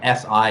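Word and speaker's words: 四: which is you know si in the fourth tone and so uh is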